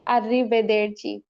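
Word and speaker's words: arrivederci: আররি বেদের আবার শুদ্ধভাবে বলি আর ও সরি আরবেদের আরি বেদের চি আমরা ভালটার সাথে ভাগ করে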